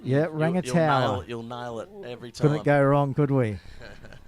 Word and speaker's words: Rangataua: So we're just getting pronunciation lessons on the run here. Rangataua. Tower. A little bit of a tower. A little bit of... You put the tower into it. Just think of tall people, Pete.